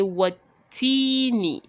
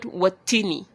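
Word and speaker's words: والتين: what teeny what teeny remember I live and learn here are silent so you would pronounce it as if they are not even there what T me Tini and not tiny not watini no matter how fast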